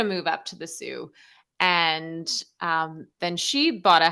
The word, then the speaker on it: Sault: Before we started, I said you're the founder of the Sault Film Festival. You're like, oh, it's Sioux.